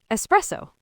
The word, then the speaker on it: espresso: So there's no X sound at all. It's an S. Espresso.